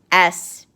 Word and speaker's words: sphere: It is spelled S-P-H-E-R-E. PH is a digraph, and when it's put together, it makes F.